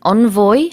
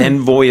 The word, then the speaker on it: envoy: 발음은 envoy 아니면 envoy라고도 하더라고요. Yeah, I've heard envoy as well, certainly, and I think 맞아요. both are acceptable. 네. 그래서 우리 편지 봉투를 뜻하는 envelope, envelope Right. 이거랑 발음이 비슷합니다.